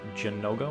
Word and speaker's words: Zinogre: But from what I've seen and from the way it was kind of sort of translated before, it was more Jinoga with like a J instead of a Z.